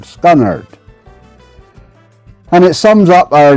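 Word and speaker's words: scunnered: R E D and you pronounce it scunnard. Literally scunnard. Scunnard.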